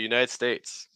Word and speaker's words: United States: next word so the United States United States most the stress is going to be on States okay um United United